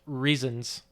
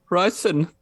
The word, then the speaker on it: Riesen: So there is this particular type of German chocolate that's sold, and it's spelled Riesen, and it's pronounced. You lost me. You're gonna have to say it. It's pronounced reasons. Riesen.